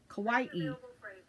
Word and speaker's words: kawaii: And if anyone's ever been wondering how that's pronounced, it's like saying Hawaii, only it's kawaii.